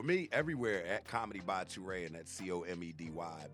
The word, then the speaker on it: Turae: and i'm gonna be hanging out with uh tworay tonight i'm sure he'll tell you that it